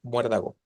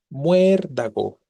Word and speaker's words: muérdago: llegó aparecer la palabra muérdago Y tanto muérdago como Cuéntame son Qué tipo de palabras esdrújulas las dos tienen diptongo muerdago Cuéntame no el mismo